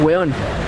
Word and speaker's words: huevón: Nosotros le decimos huevón se escribe huevón pero nosotros decimos huevón Ah huevón tú dale